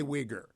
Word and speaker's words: Uyghur: How do you say Uyghur? Uyghur. Your pronunciation is perfect, Hugh.